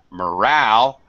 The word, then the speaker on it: morale: add this e but in this case morale this is going to be second syllable stress in the mo becomes ma morale like a schwa sound alright okay even though